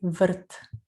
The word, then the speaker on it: врт: Сад по-сербски башта или врт. Еще раз у нас здесь «р» носитель ударения. Врт.